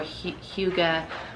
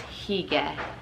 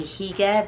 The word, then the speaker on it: hygge: gets pronounced hygge or hyuga but it's at least in norway it's higa so it's like you're saying higa but with an e sound put your lips out for higa just just so you're